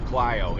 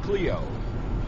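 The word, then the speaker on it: Clio: don't know same with clo it looks like Cleo that's how it's spelled you know c l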